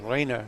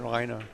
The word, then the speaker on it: Rainer: that by the way his first name is Rainer not rer but we'll find out